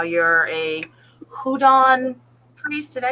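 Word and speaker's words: Houngan: Because you were talking about how you're a Hougan priest. Did I say that correct? No. Then fix it for me. See? Hougan, it's Hougan, but the H is silent.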